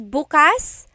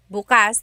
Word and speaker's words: bukas: If you say bas the emphasis is on the second syllable that means open. If you say buas emphasis is on the first syllable that means tomorrow.